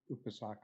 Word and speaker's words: upasaka: Actually, I just point out that if we use the correct Pali pronunciation, where the accent is on the next to the last syllable, in English, upasaka and upasika, don't sound very different.